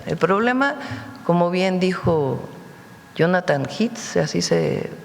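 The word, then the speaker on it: Jonathan Heath: El problema, como bien dijo Jonathan Hits, así se pronuncia, es un asunto de salud pública.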